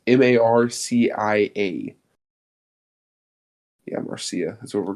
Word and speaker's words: Marcia: I don't know how to pronounce that name. It's Marcia.